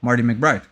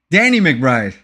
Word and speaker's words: Danny McBride: Oh, Marty McBride. Is it Marty McBride? Am I saying his name wrong? Danny McBride. Did he ever play somebody called Marty McBride?